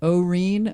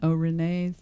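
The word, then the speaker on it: Au-Rene: at the Oh how do you say it Irene Oh Renee all right Oh Renee theater I think that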